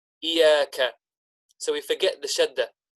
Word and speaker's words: إِيَّاكَ: And we said the common mistake made in this particular ayah is that we forget the shadda. We forget to pronounce the shadda. So sometimes instead of saying إِيَّاكَ, instead we incorrectly say إِيَّاكَ, إِيَّاكَ.